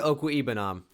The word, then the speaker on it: Okwuegbunam: letters, it's like, yeah, it's OQ, or excuse me, not OQ, OKWUEGBUNAM. Okwuegbunam is how you say it.